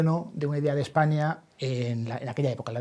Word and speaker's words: España: sino del término España, con S líquida, pero que ellos pronunciaban España, de tal manera que se está hablando de España desde el siglo VI o VII, por lo menos, ¿no?